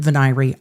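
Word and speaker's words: venire: was a massive jury veneer. I am sure Judge M is right in pronouncing it venyrie. I just literally cannot. My brain refuses. I hate it so much it hurts my ears.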